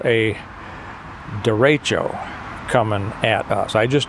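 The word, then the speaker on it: derecho: from what I understand a dero it's spelled D e r e c h o it comes from a Spanish term link will have to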